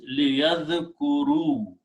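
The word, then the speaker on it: ليذكروا: Now, with one more change, by dropping this noon, the word becomes liyadhkuru. Okay. And just for the writing purpose, we write an extra alif with a small circle. We don't pronounce.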